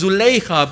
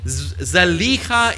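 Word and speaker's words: Zulaikha: often she's also known her name is pronounced as zuleyka but apparently zaleka is more accurate in any case what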